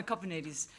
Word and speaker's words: Kopanidis: No, Kopanidis. Greek names are phonetic. The way they're spelt is the way they're pronounced.